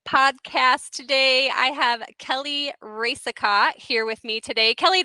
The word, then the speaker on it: Racicot: the insurance revolutionized podcast today I have Kelly ricot here with me today Kelly did I say